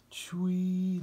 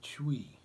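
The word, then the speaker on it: chui: the kidneys sound is chewy like c-h-u-i okay this one put the feet together you wrap your hands around your knees and you make the sound chewy like c-h-u-i chuwi so round your back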